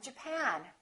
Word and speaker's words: Japan: at the next one did you say Japan or Japan in this case it's the second syllable I'm from Japan I'm from Japan let's